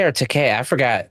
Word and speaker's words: Takei: But when they did the Wrath of Khan, and they got Tim Roth and George, is it Takai or Takei? I forgot. Takei. It rhymes with gay.